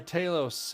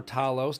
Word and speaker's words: Talos: Titans against four star Taos um or Talos depending on how you like to pronounce it I like to say Taos U kind of like